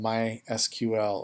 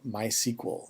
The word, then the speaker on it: MySQL: connect to our database program which is called my SQL or my sequel is how it's pronounced in the industry and so we're going